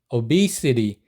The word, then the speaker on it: obesity: OB 3입니다 뜻은 비만 발음은 OB OB 맥주 아시죠 예전에 오비 맥주 그 오비 맥주를 생각하시면 됩니다 오비맥주 많이 마시면 어떻게 됩니까 비만이 되죠 그러니까 OB 하시고 한 번 쉬고 CD 그래서 계속하시면 OB OB obesity 이렇게 발음하시면 됩니다 자 그럼 왜 미국은